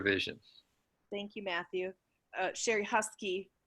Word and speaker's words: Husk: Sherry Husky, actually the correct pronunciation is Husk German, but here we say Husky.